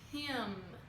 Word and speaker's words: him: Então o he, que é ele, fica him. Fecha a boca no M, tá? Não é him, é him.